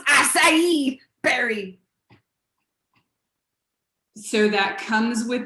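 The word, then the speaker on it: açaí: welcome can you sir special please it's pronounced acai berry so that comes with the wheatgrass some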